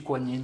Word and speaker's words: Guan Yin: Donc voilà, en France, on va savoir pourquoi ils ont préféré l'appeler Guan Yin, la prononciation Guan Yin, alors que ça se prononce tout aussi Kuan Yin, c'est pareil.